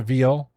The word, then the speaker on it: Vigil: So the person that actually got him busted, her name is Cynthia Vigil. She pronounced it Veal in an interview.